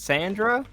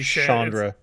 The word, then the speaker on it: Chandra: Is it Sandra? I think Well, it's meant to be Chandra. It's meant to be Chandra. Chandra. Like Yeah, Chandelier. I'll Like never. chandelier, but I think the name is pronounced Chandra.